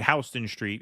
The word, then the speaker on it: Houston Street: new work like norc similar to H Houston Street hon Street in the city's pronounced hon yes of course also Kierney